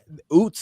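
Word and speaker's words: Ouzts: It'll be interesting to see how it turns out because let's not forget, Oots is how we pronounce the fullback's name, right?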